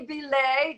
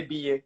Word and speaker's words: Billet: introduce you so belay did i say that right or is it ba how do you say your last name they said i say be it but that's all right